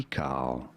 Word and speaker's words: decal: Decal. You do want to stress on the first syllable, on the D syllable.